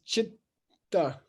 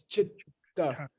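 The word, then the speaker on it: citta: But I Yeah, didn't- you should leave the 2 T's. I'll tell you why. It's chitta, okay? It's chitta. It's Buddha, okay? It's two syllables, okay?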